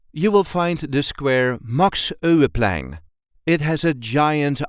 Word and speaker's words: Max Euwe: a regular Dutch accent MOX o the Dutch Grand chess master this is the way we say MOX o MOX there is a light emphasis on the first syllable of his last name MOX MOX o were